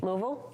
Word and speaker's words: Louisville: So real quick, how do you pronounce that L word city in Kentucky? Louisville. Okay, I wasn't sure. I just want to make sure. I always hear different things. So. Louisvle.